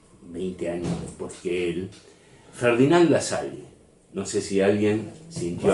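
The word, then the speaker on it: Lassalle: años porque el jardinal La Salle no sé si alguien sintió hablar de él sí pronunciemoslo bien este la sal es un sindicalista y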